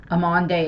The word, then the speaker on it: Amande: sure I'm butchering them amande is the only one that I'm fairly certain I'm pronouncing it right just because it's very similar to my name um and well